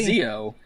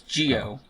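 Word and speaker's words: Zi-O: Which apparently in Gio cuz it's pronounced Gio. Brent. Oh, really? Not Zo, it's Gio.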